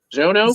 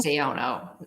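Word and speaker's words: Xiono: uh Senator is xano zono zono Z with a z ex's pronounced that X's it's EX i o n o it's X is pronounced like a z no yeah um uh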